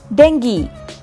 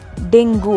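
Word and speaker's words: dengue: அண்ட் the last one இஸ் டெங்கி. நிறைய பேர் இதை டெங்கு அப்படின்னு தான் சொல்லிட்டு இருக்கோம் இப்போ வரைக்குமே. ஸோ the right pronunciation is டெங்கி. So that's it with the class today.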